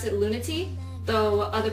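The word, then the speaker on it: Lunatea: you want to pronounce the name but we pronounce it lunati though other pronunciations could be considered lunaa or luna things like that but as I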